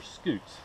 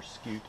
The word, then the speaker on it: scute: you look at her scutes. These are her scutes. Each plate's called a scute. Or scoot, pronounced differently depending on who you're speaking to.